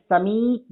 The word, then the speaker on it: समीप: उच्चारण पर ध्यान दोगे तो मात्रा समझ में आ जाएगी। मैं समीप बोल रही हूँ, मतलब दीर्घिकार, यानी हर्षिकार से दुगुना जो समय लगता है वो बड़ी के लिए होता है।